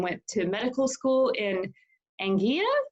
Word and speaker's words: Anguilla: Ariel has gone on to study chemistry and went to medical school in Anguilla. Is that how you say it? Anguilla. Anguilla, thank you.